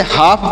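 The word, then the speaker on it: half: एच ए एल एफ इसे हाफ पढ़ेंगे अब इसे हाल्फ नहीं पढ़ना है क्यों नहीं पढ़ना है ध्यान दीजिएगा यहां पर जो ल लिखा गया है यह साइलेंट है मतलब हम इसे नहीं पढ़ेंगे लिखेंगे लेकिन पढ़ेंगे नहीं ध्यान दीजिएगा बहुत सारे लोग इसे हाल्फ पढ़ देंगे इसमें एल साइलेंट है एल को नहीं पढ़ा जाएगा तो हाफ मतलब क्या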